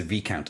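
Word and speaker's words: Viscount: of what's going happening the s in this count is silent so pronounce a v count oh it's a v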